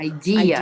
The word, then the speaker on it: idea: idea this idea great so idea has that stress on the second syllable idea yeah yes I'm not